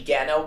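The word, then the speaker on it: Genna: Uh so I found out it's on the record it's actually Genno with a hard G uh like golf.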